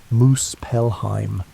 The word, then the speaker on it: Muspelheim: To the south lay Muspelheim, pronounced Moose Pelheim, realm of fire, where Niflheim dripped with frozen venom and endless winter.